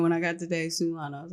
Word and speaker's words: Sulan: Day Sulan. Sulan like Mulan.